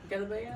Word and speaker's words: galabeya: No, cuz that that comes down to the accent. So, if you're like from the country side, like from the city, they say galabeya. galabeya They they pronounce the geem as j.